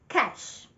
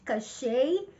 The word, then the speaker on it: cache: Like money, dinero. Cash. Not cachet as in French cachet or cake. Yes, I think I had someone say cake before. Cake. It's not correct. It's not cachet or cake. It's not. The right pronunciation is cash.